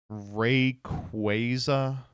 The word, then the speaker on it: Rayquaza: The Pokemon company confirmed Rayquaza is pronounced Rayquaza.